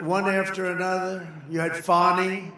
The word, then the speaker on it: Fani: But one after another, you had Fani, F-A-N-I, which is usually pronounced Fanny.